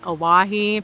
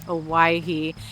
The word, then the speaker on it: Owyhee: I have always called it Aahi, but it is Aahi.